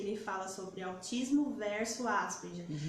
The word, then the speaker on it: Asperger: Tem até um vídeo dele que ele fala sobre autismo versus Asperger. Isso. E ele pronuncia Asperger, que é a pronúncia do alemã, né? É alemã a pronúncia.